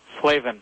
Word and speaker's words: Flavin: Slavven.